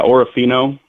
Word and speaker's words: Orofino: Yeah Orofino.